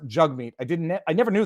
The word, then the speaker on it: Jagmeet: doing that on purpose his name is pronounced jug meat i didn't i never